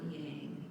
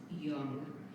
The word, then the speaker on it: yang: yin and yang well it's not yang it's young so if you look